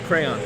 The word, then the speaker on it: crayon: pronounced crayon or crane it's crayon crayon yeah yeah get your crayon get your crayon yeah get your crayon versus crayon so like crayon and crayon it's not crane no it's not crane but